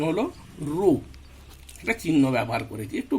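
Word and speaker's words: ρ: আমরা এখানে সেই ধ্রুবকটাকে রো, উচ্চারণ হলো রো, একটা চিহ্ন ব্যবহার করেছি, একটু বাঁকানো এর মতো।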